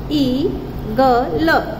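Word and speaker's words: eagle: मैंने यहाँ पे देखिए ई ग यानी मतलब कि यहाँ पे ए का साउंड नहीं आ रहा, ए साइलेंट है, और मैंने आपको ये भी बताया था कि लास्ट में अगर ई आता है तो उसका साउंड नहीं आता है, तो ये हो गया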